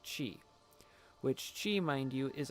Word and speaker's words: qi: So, in the cosmology pertaining to yin and yang, the material energy which this universe was created from is known as qi, or pronounced chi, which qi, mind you,